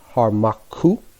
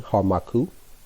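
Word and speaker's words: Hormakhu: Merti is spelled M-E-R-T-I. 18 is going to be Harmaku, H-O-R-M-A-K-H-U. And that's 18, Harmaku.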